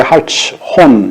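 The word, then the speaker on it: Hartshorne: 하트숀이라고 하는데 하츠혼 이렇게 발음이 다양하게 나타나게 되는데 하츠혼이라고 이렇게 하는 게 낫겠습니다.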